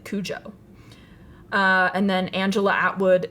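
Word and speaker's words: Cujo: h um but uh Patty pronounces it Kujo uh and then Angela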